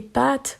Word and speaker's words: pâtes: Alors qu'en Belgique, oui, ils font la différence entre une pâte de chat, ils disent pâte. Le A est court. Alors que les pâtes qu'on mange, ils allongent un petit peu le A. Les pâtes.